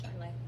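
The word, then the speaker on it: Charolais: Charis Charlay.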